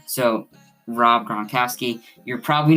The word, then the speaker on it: Gronkowski: so yeah um but i pronounced gronkowski and beckham wrong um so yeah i was i said like uh uh i forgot what i said i was like yeah like i i actually pronounced it two two different times very wrong i said like berkowski bronc bronchowski or something like that i don't know i said it terribly so rob gronkowski you're